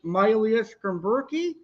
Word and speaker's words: Myleus schomburgkii: a complete idiot but i know how to pronounce this one scientific name is myelia skin berkey also known as the black barber like i